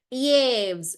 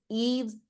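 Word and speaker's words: Yves: go with my Sanskrit thing I would say yaves but it's not yaves it's French you know French are more obsessed with their pronunciation than the language itself okay so sorry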